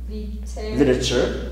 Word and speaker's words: literature: music drama health cakeboarding literature literature literature literature biology then remember like picture right this is not good like literature picture picture right this is the pronunciation literature picture repeat literature picture picture sure